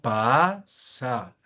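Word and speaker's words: πᾶσα: decir toda, yo digo pasa. Ahí está la vocal. Esta vocal es breve, ¿no? Pasa. Para que pueda en penúltima sílaba estar el acento circunflejo, la última tiene que ser breve.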